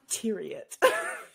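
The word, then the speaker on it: Thieriot: That's how he pronounces it, although he admits that that's technically incorrect for the French pronunciation, but that's how his family says it, so that's how I'm going to say it.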